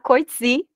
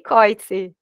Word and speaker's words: Coetzee: debater você era brigada por já dizer como pronunciar coice porque eu sempre pronunciei corte né Então faz parte